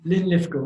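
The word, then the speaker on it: Linlithgow: but they they're still ly litho that's how you pronounce it Scottish yes sorry I probably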